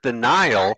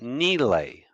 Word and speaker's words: Nile: means desert the name of the river we pronounce it the Nile that is not how it's pronounced it's pronounced Neely oh you get little things like this by